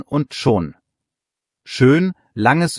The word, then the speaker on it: schon: Aussprache nochmal praktisch. 2 Minimalpaare, schön und schon. Schön, langes Ö, schon, kurz und O.